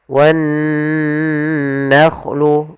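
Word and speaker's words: والنخل: Kemudian pada lafal nun bertasydid di sini ada bacaan gunnah, yaitu adanya nun bertasydid. Cara membacanya ditahan dulu suaranya wan nakhlu, baru dilanjutkan ke gunnahnya.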